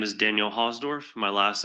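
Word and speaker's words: Hausdorf: My name is Daniel Hosdorf. My last name is spelled H A U S D O R F.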